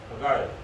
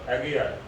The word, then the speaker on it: Haggai: One was Zechariah and one was Haggai, or Haggai. Two different ways of pronouncing his name. Which part of the world they belong to, we come to know. Haggai western, Haggai eastern.